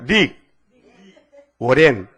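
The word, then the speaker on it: Rick Warren: 릭 워렌. 자, 발음이 들어가요?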